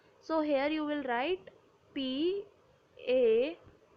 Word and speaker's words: pain: bread we say PA p a i n Brad spelling is similar to pain but it is not spelled uh it is not pronounced as pain it's pa okay next is flag